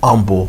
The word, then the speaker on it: Humble: state semifinal and then it's humble humble you know game yeah only word and I think the English language that the H is silent apologize to all of